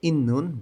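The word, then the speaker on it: 있는: করুন লেখা আছে জিবে ইন্নুন বাড়িতে ইন্নুন অর্থ হচ্ছে থাকা সাংসিয়তের পরে নিউন থাকলে সাংসিয়তটা ন উচ্চারণ হবে ইন্নুন থাকা মূলগণের জিনিসপত্রের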